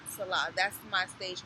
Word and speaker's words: Selah: and it's and and they say it's saah yeah it's yeah I pronounce it Salah I think it just flows a lot better you know but people